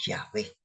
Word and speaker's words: Yahvé: qué entonces no es Jehová es Jehová pero realmente es yahvé y porque cuando nosotros